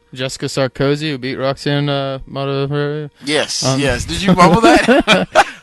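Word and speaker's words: Modafferi: Regardless, guys, we've got Modafieri coming up.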